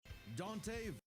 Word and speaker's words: Dante: Dende versus Clyde. Even though I have watched a death battle in Dende, by the way. I don't know to this day if that's how you say it. Dante.